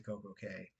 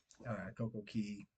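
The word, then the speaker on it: CocoCay: want to go to Koko K, Coco Key, I think is the technically way the way to say it.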